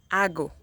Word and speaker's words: hago: Ago. Ago. The H here doesn't have any sound.